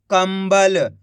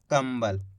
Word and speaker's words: कंबल: काम अनुस्वार की मात्रा कम, ब ल तो मिलकर बन जाएगा कंबल। यहाँ पर अपन ने करा क्या? आधा माँ का उच्चारण निकाला है। किस तरीके से? इस तरीके से, कंबल।